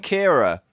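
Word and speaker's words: Ciara: what's it called storm Kiara Sierra Cara I don't have to say I've just read it I didn't know how to say it Chiara Cara Kyra it's storm Kyra apparently the next storm is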